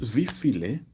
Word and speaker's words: wie viele: Now, when pronouncing it, the E has to be emphasized, okay? Because if you just say wie viel, it might mean something else. So this wie viele simply means how many.